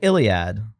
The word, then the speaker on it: Ilia: Like Iliad. Oh, Ilia. Yep. Like license to Ilia. That's how I'll remember.